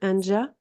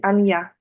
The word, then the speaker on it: Anja: Anja, je prononce bien. C'est Anja? C'est Anya. Anya. OK. C'est le I, le J, c'est comme un I, on va dire.